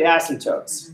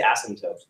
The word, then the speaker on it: asymptotes: you'd say asymptotes but there's a P in there we all just say asymptotes asymptotes and it's a silent P but it's funnier if